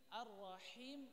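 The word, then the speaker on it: الرحيم: Indonesia kebanyakan bisa Arrahma bisa menipiskan arrah tapi arrahim itu enggak tipis arrahmanirrahim ahimnya engak tipis harusnya tipis juga Arrahman dengan arrahim sama-sama tipis arrahmanirrahim arrahmanirrahim maaliki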